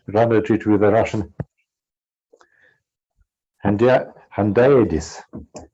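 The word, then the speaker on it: hendiadys: I just rendered it with a Russian handaides. Am I right in pronunciation of this term in English? When we say the same thing with two words. Yeah. Hendiades? Handaides. Yeah. Handaides. The accent is in handaides.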